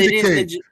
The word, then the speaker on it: Ninjak: that I don't know if you know, but Ninja K. Ninja? Yes, that's what it is. It's fucking Ninjak. It's not but Ninja K.